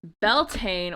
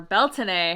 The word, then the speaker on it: Beltane: And speaking of spring and May, Beltaine or Beltine, however you want to pronounce it, is coming up next week.